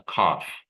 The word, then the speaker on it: cough: She has a cough. Okay. The pronunciation is like a f sound, even though the spelling is GH, right?